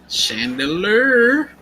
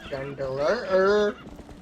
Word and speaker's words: Chandelure: Oh my god, that's her main Pokemon other than we chandelier. Chandelier. So stupid. Chandelure.